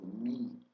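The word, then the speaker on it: μ: Algumas gramáticas usam a expressão mi ou mi ou mu. Ah, nós vamos usar aqui mu ou pode ser mi, depende de como aluno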